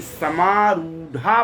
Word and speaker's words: समारूढ़ा: तो आपको ये ध्यान रखना है कि समारूढ़ा पढ़ना है। समारूढ़ा नहीं पढ़ना है।